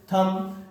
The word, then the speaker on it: thumb: THUMB थम।